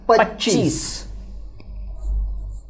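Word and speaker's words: पच्चीस: Which is called as Pachis. Pachis.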